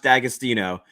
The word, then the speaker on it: D'Agostino: they sell in Ohio it's pronounced D'Agostino um but the apostrophe throws everybody off it's yeah casino is